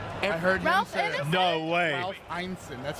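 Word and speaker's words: Ineson: I heard Ralph Einson.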